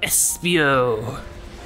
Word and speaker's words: Espio: really cool if you say it like that Espio that's uh that's actually in the pronunciation guide it's like INS What what if